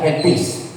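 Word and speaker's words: ἐλπίς: Saya sudah kasih cara bacanya di bahasa Indonesia, elpis.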